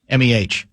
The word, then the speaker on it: meh: Is it Meh or May? M-E-H. How's that pronounced? Meh.